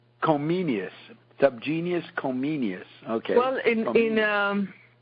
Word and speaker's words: Comenius: John Amos Comenius. Comenius. Subgenius Comenius. Okay. Well, in Czech, I think they say Komensky. In German, they use the Latin name as they would call him then Comenius, not Komensky.